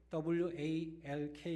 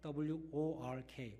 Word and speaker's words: work: 못알아 드실 것 같은데 walk 가 아니라 work 워크 워크 이는 너희